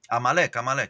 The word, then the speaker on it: Amalek: This is the first I've heard of this word Amalek. How do you say it? Amalek.